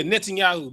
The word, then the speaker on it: Netanyahu: Yeah, Netanyahu, Ben Netanyahu, whatever his name is.